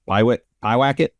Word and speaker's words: Pyewacket: And I was wondering kind of how has your workflow changed between 2017, you shot, how's it pronounced? Pyewacket?